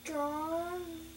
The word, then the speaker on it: drove: What does that silent E do? So tells the O to say its name. Mm-hmm. This is a silent E, right? And it jumps over the V and makes a rainbow. And here's the pot of gold. It says its name.